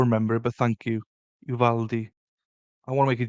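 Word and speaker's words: Uvalde: evil lady yeah I don't know you say evil Aid always conscious about Miss mispronounced in words oops here we go you valdi Uvaldi fine thank you I will remember it but thank you Uvaldi I want to make it justice do you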